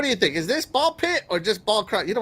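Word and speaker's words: Ball x Pit: The X is silent like hunter cross hunter or spy cross family.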